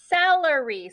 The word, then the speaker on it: celery: Remember, a soft C is anytime we have a C and it has an E or an I after it. So this word is celery.